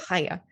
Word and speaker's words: Chaya: Chaya. I have some phlegm. Yeah. I nailed it. A little bit of phlegm goes a long way for pronouncing Chaya.